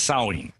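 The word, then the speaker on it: Samhain: now the real name i think was called saw ween is that the correct other correct pronunciation yeah in the celtic british isles yeah sewing it spelled samh a IM but we say it as sewing and yeah that's the that's the ancient ancestor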